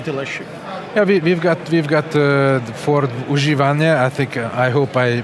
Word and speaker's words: używane: Yeah, we've got Ford używane. I hope I pronounce it properly.